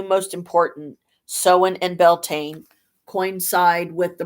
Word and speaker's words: Samhain: Samhain, though the vast majority of witches mispronounce it. It's spelled Samhain or Samhain or whatever, but it's Samhain.